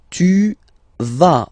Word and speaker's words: tu vas: Tu vas. Final S doesn't exist.